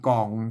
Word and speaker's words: ก๋อง: นะ ครับ ย้า ตี กอง แขง ฟ้า ไอ้ ขีด เส้น ใต้ นี่ บ ต้อง ไป อ่าน ตัว อัน ก้ำ นะ ครับ อ่าน ว่า ก๋อง นะ อ่าน ว่า ก๋อง นะ